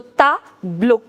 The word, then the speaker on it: tableau: I told you over here as well, E-A-U, the pronunciation is O. So tableau.